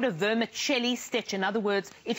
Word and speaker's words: vermicelli: So vermicelli, as though it's vermicelli, an Italian vermicelli like pronunciation. Vermicelli.